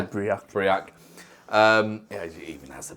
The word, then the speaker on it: Breac: Just say Breac. Breac. It even has a pronunciation thing on the back that I didn't even look at.